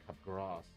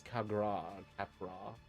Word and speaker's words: Capgras: Pronounced Capgras. Delusion or Capgras syndrome is a psychiatric disorder in which a person holds a delusion. Oh, right. Yes. And it is Capgras. Yeah, Capgras.